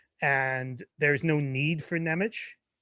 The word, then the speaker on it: Nemec: there's no need for Nemitz, I think you pronounce it ITZ, but it's Nemec, whatever.